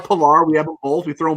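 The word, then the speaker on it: Pillar: __ ] diving catches his name rhymes with valar vallar pilar we have all we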